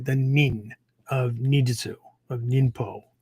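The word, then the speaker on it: 忍: The nin of ninjutsu, of ninpo, right? It's the Japanese pronunciation of the original Chinese that go along with this kanji, right?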